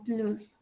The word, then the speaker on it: plus: La S no se pronuncia directamente manger non plus.